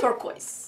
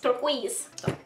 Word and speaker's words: turquoise: We're French here. It's turquoise. Turquoise. Turquoise. Turquoise. But turquoise in English.